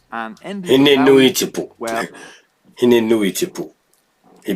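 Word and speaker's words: Hine-nui-te-pō: led to his death, which involved the goddess Henetepo, and ended with Maui... Henenuitepo. Well, Henenuitepo. He butchered that one.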